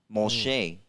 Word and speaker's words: Moshe: Moshe. Moshe, right? remember that name? That's how you say it in the Bible.